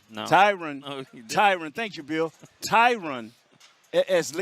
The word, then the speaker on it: Tyron: And Tyron kind of, is I'm pronouncing it right? Tyron. No. Tyron, thank you, Bill.